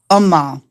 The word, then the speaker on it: Ummah: You how do I pronounce it? Ma Who are you talking? Umam Who are you talking about? Ummah.